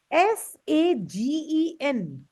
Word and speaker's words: sagen: S-A-G-E-N. How will you pronounce this word?